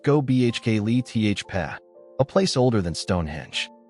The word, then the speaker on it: Göbekli Tepe: Göbekli Tepe, pronounced Göbekli Tepe, a place older than Stonehenge, older than Egypt's pyramids.